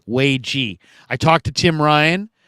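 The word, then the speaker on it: Waege: By the way, I believe it's Wagee. Wagee.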